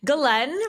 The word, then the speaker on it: Ghislaine: to pronounce it wrong, Ghislaine Maxwell for years now, haven't you? That's pretty close. It's Ghislaine, but yes, if you want to say it the French way.